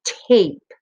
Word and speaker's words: tape: The E is silent, but it has a very special job.